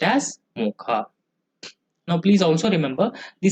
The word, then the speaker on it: Mocha: Okay, so which is supposed to be pronounced as Mocha.